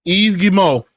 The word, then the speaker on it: Yves Guillemot: Yves Guillemot, and that is how you pronounce the name of the CEO of Ubisoft.